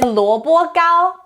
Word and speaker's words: 萝卜糕: The word of the day today is 萝卜糕.